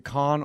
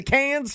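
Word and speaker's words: Cannes: It's not a It's a festival in Can France. Okay. But what's it? Yeah. But the pronunciation, is it con or can?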